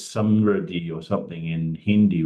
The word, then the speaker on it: samriddhi: The word prosperity, I think it's samriddhi or something in Hindi, right? Samdri. How do you pronounce it?